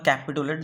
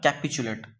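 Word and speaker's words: capitulate: है ना कैपिचुलेट बा कैपिटुलेट जहाँ पढ़ी पार तुम माने जेटा गोटे ठीक प्रोनाउंसिएशन सेटा होला कैपिचुलेट कैपिचुलेट माने कौन कैपिचुलेट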